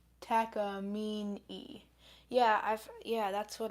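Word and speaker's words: Takamine: we look it up how is Taca pronounced Tak takamina is what this says the source says Forum takam takam well they're Japanese so dampy has arrived hello so takamina takamina is I guess the correct pronunciation are they yeah they're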